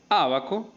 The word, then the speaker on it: ábaco: ábaco índice en fin ábaco tiene el acento en la primera sílaba bueno en la antepenúltima